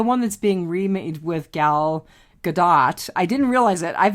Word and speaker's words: Gal Gadot: The one that's being remade with Gal Gadot. I didn't realize it. I've been mispronouncing her name all these years. It's Gal Gadot. It's not Gal Gadot. I've been pronouncing it Godot also.